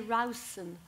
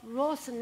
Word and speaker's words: Rousson: Well, I think I think they say Rousson. I think they say Rousson. But Rosson is the anglicized version of it.